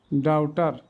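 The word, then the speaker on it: doubt: উট ডেটর শার্টলি in death শার্টন ডাউটার এবার অর্থগুলো শিখি ডেট মিন্স ঋণ এই বির উচ্চারণ হয় না ডেট ডাউট মিন্স সন্দেহ এই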